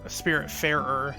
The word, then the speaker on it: Spiritfarer: That looks Spirit Fairer. That's how you say it.